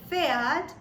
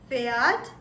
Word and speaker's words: Pferd: Now in this word Pferd, the P or the P is silent. And what we have left is Pferd, Pferd.